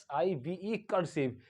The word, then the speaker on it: cursive: लेकिन ये जो आई है ये लॉन्ग आई नहीं है, ये शॉर्ट आई है। क्यों? क्योंकि ये बड़ी स्पेलिंग है, ये कई सिलेबल के बने हुए वर्ड है, इस वजह से इसमें ऐसा पढ़ा जाता है।